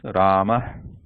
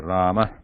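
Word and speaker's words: रामः: So the pronunciation becomes Rama, Rama, very light breath there, Rama.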